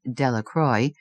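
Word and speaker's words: Delacroix: Bobby and Harry Jones and Dicky Delqua. The villagers pronounced this name Delroy eventually made a great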